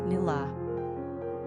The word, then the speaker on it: Nuala: It should also be mentioned that Irish people pronounce Nuala as "Nula."